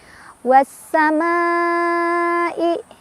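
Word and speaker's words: والسماء: Cara bacanya, alif lamnya tidak dibaca, langsung baca ke sin, dari wawu langsung tekan ke sin ya.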